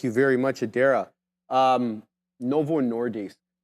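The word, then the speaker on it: Novo Nordisk: very much Adera um Novo nordis I want I say dis because Adera told me how to say it properly um Adera they're Danish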